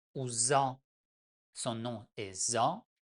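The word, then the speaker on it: ظ: La lettre numéro 20, Z ou Za, son nom est Za, mais on prononce tout simplement Z comme Z.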